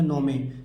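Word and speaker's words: gnome: नहीं यहां पर देखिए एन से पहले जी आया है तो जी को छिपा लेते हैं जी साइलेंट है क्या पढ़ेंगे नौ में नौ में नोम क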